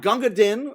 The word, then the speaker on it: Gunga Din: they're all it's an ensemble yeah yes um ganga din we got to see um and with it's